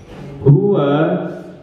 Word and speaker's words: huwa: Maka ketika digabung satu ketukan, maka huwa, ya gini, huwa bunyinya.